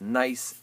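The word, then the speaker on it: gneiss: is nice it's pronounced nice as a silent G at the beginning of it there you go okay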